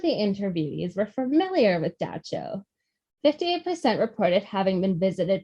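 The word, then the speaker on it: Dab Tsog: described a figure called Da Cho. Luckily, they told me how to pronounce that one because it does not look like that. It looks like Dab Tasog. Da Cho, an evil spirit that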